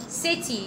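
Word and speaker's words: city: لا اكتبها على السي سين لان جه بعدها اي، السي لما بيجي بعدها اي او اي او واي بتنطق سي. السي لما بيجي بعدها اي او اي او واي بتنطق سي. سيتي يبقى اسمها ايه؟ سيتي.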